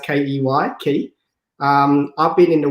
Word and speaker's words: Ky: Key pronounced Key.